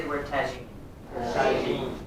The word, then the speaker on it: tagine: Can everybody say the word tagine? Tagine. Not tagini, tagaine.